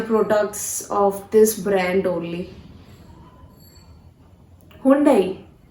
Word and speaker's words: Hyundai: No, you guys have been pronouncing this word, this brand wrongly. This is not Hyundai, this is Hyundai. Hyundai. Hyundai, okay? This is how you have to pronounce this brand, Hyundai.